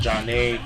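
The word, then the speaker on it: Zhané: Zhane, Pronounced Jah-Nay, released in 1994.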